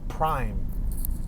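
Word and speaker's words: Prhyme: prime a downtown steakhouse spelled p-r-h-y-m-e prime not spelled like you know a prime number but prime like that they spelt it all fancy they got the goat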